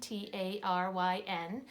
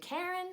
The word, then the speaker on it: Taryn: her name is Tarun ta ry N and when she would tell people her name they would say she would say my name is Taryn and they'd take Karen and she'd say no Taryn and it would go